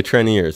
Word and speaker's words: Treniers: The Treniers, that's how you say it.